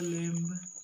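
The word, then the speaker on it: lambda: ये 11th में आपने पढ़ा होगा लैम्डा, इसमें बी साइलेंट रहता है इसलिए लैम्डा बोलते हैं, लैम्डा से रिप्रेजेंट किया जाता है, ठीक।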